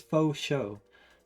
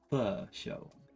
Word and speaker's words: faux: See, it says faux show, but that's not the right way to pronounce it. It's f show, which doesn't make as much sense.